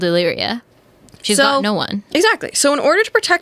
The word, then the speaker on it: Illyria: up at the shore of how about you pronounce the name of this town I got you it's Illyria Illyria crazy name that's again that's what my